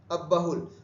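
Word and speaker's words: अब्बहुल: हैं और तीसरा है अहल है ना अ अब बहुल शुद्ध उच्चारण है अब बहुल अब बहुल भाग जो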